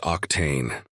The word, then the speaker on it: Octane: When translated to human speech, it is pronounced Octane.